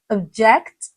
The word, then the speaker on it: object: I know you pronounce this word as object. But do you know that this word can also be pronounced as object?